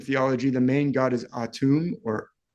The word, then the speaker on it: Atum: know for sure so I'll just say atum but it sounds like Adam some people say aha